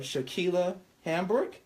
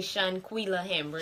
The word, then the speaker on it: Shanquila Hamburg: We have Shaquila Hamburg. Did I say it right? Shaquila Hamburg, because I was about to call you Tequila for some reason. It's actually Shanquila Hamburg. Shanquila. Hi. Hey. What's going on, Shanquila Hamburg?